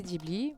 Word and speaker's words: Ghibli: écoute, au musée Ghibli, au Japon même, on me dit que c'est Ghibli, j'en suis sûre. Et j'ai vérifié partout sur les wikis, sur les prononciations, les trucs dictées vocales où ça te prononce des trucs en japonais. Ils disent c'est Ghibli partout. Et pour avoir été au musée, bah voilà, c'est Ghibli. C'est tout.